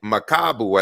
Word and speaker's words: Makabu: correctly when i say makabu i think the accent is on the second a not on the first one so i'm just letting